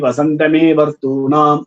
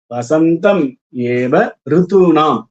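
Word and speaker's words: वसन्तम् एव ऋतूनाम्: சில பேர் இந்த மந்திரங்களை உச்சரிக்கும் பொழுது தவறாக உச்சரிக்கிறார்கள். அது எப்படியெல்லாம் என்று நிறைய பேர் பாட கேட்டிருக்கிறோம். சமிதோ யஜதி வசந்தமே வர்த்தூனாம் அப்படின்னும் பொழுது வசந்தமே அப்படின்ற வசந்தம் ஏவ ரித்துனாம், அதாவது சமிதோ யஜந்தி வசந்தமே அப்படின்னு சொல்றார்.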